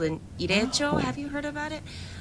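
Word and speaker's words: Ireichō: Your mom might know, but just an FYI, the Japanese American National Museum, they put together what's called an irecho. Have you heard about it? It's spelled IREICHO.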